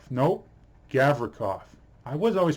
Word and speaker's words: Gavrikov: So next up, Vladislav Gavrinkov. Nope, Gavrikov. I was always pronouncing that now. I was trying to, there's no N in that name. It's Gavrikov, not Gavrinkov.